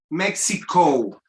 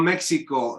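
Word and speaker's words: México: Mexico. It's not Mexico, it's Mexico. Okay?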